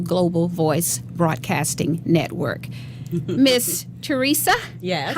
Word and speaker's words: Tresia: Miss Tresia, yes. How are you, darling? And I love perfect. your name. We know thank you. it's spelled differently. It's Yes. Pronounced differently, Yes. Tresia.